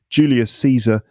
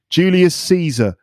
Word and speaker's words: Julius Caesar: And the joke here is that Julius Caesar, which is the name of the famous Roman emperor, Julius Caesar, sounds like Julius sees her, like with his eyes. Julius sees her. Julius Caesar. Julius Caesar. They sound the same.